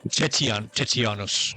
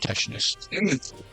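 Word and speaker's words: Tetianus: Tetianos. Tetianos. Uh, but it's pronounced tesus.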